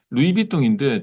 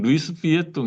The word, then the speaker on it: 루이비통: 그래, 여기 신세계 가면 루이비통인데 자꾸 저는 루이스 비에통 이러니까 와이프가 뭐 발음 잘해라고 맨날 그러는데, 어, 그러니까 그 내비게이션 해라는데 네이비게이션 뭐 이러니까 왜 자꾸 끝까지 다 읽냐 뭐 이거 자꾸 와이프가 저한테 그러는데 루이스 비에통, 루이비통.